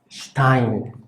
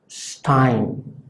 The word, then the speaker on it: Stein: La S funciona como la nuestra, básicamente se pronuncia como la nuestra, pero si está antes de P o antes de T, entonces se pronuncia más cerrada.